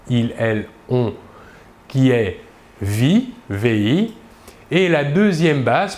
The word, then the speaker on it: vit: Nous remarquons que la prononciation du verbe est la même, vit. Nous ne prononçons ni la S finale ni la T finale. Par contre, il est obligatoire de les écrire.